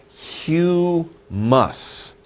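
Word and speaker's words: humus: use for it it's a little hard to pronounce but look at this word it's houmous hue hue muss - sounds - sounds hue muss houmous so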